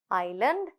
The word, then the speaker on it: island: Silent S, oil, island, debris. அப்போ இந்த கடைசியாக வர இந்த எஸ்ஸை வந்து டெப்ரிஸ்ன்னு அந்த எஸ்ஸை நாங்கள் வந்து ப்ரொனவுன்ஸ் பண்ணக்கூடாது.